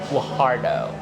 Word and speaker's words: Guajardo: Guajardo.